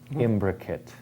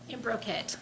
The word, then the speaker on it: imbricate: Imbricate. Can we have one more pronunciation, please? Imbricate. Imbrocate.